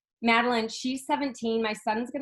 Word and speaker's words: Madeline: No, it's Madeline.